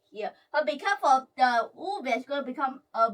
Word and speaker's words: uve: But be careful, the uve is going to become a V.